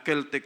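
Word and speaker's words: Celtic: salt no keltech salt pero ang spelling c e l t i c pero ang pronunciation niya kelttech salt no iba-iba ng klase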